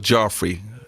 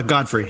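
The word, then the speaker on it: Gottfried: was in all three movies was gilda gilbert joffrey am i pronouncing that right uh godfrey yeah godfrey yes um he was in the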